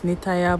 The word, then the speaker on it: Nitaya: I think I pronounce her name Nata when it's Nitaya.